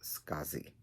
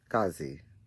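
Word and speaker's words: Skadi: her name is pronounced scazi like the these the d sounds like a z so it's s k a d i but it's pronounced scazi i could be wrong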